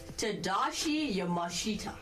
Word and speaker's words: Tadashi Yamashita: Tadashi Yamashita.